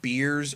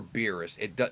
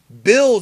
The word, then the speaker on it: Beerus: and it's written beers you can pronounce his name beers or beerus both of them are correct bills is the one that's incorrect unless you're watching the